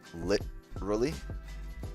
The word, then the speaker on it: literally: I know some people that make sure they get the lit sounded out. Literally. Right there, right there. Literally. Literally. You Americans say the T weird, because we don't say it. We roll it and it sounds like a R.